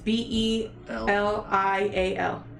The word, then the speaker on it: Belial: I'm not gonna attempt to fucking pronounce that because Belial? Belial. Bale? It's Belial.